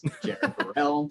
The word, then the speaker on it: Barel: of the reasons why nobody knows how to pronounce my name Jarell see loaded barrel um that's also why